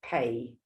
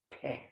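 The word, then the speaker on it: phat: Pe, you can spit it out. Pe. Not like pay, it's pe. The T is silent.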